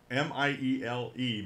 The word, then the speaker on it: Miele: And this is actually published by permission from Real Clear Politics by a gentleman named Frank Miele, or Miele, M-I-E-L-E, Miele, I believe is the way you pronounce it.